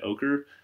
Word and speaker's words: ochre: what they call Red ochre um it's kind of spelled a little funny but that's apparently how you pronounce it red ochre has been used for